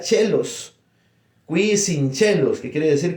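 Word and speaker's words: caelis: Entonces, por eso es que cuando decimos Pater Noster qui sincelos, entonces, en latín se escribe caelus, pero se pronuncia chelos.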